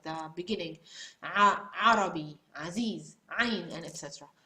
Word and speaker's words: عين: I did it, so try to do it for me, and try to practice with the reducing of the airflow. This is really, seriously, this is the only way you can pronounce the Ain.